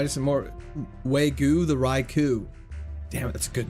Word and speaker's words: Raikou: It's pronounced Raikou.